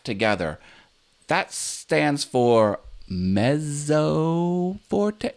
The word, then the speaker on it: mezzo forte: together that stands for mezzo Forte it's actually pronounced mezzo Forte met like the Mets with a T it doesn't have a T in the name but it's pronounced mezzo Forte and that means medium